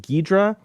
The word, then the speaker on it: Ghidorah: liam foley said so guidera is pronounced ghidra technically speaking the o in the middle of that ghidorah is very shortened there's a lot of japanese words that do that and please let me